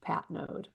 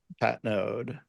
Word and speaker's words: Patnaude: common thing but yeah it's a French Canadian name so it's pronounced Pat node Pat node okay um so Ellen